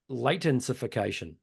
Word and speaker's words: latensification: Yeah, I think it's latification. Latensification.